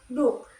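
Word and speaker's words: doek: Contoh kata bahasa Belanda yaitu zak yang berarti kantong diucapkan dengan zak dengan kehelar tidak bersuara dan dok itu berarti kain dibaca duk dengan deh api kodental bersuara.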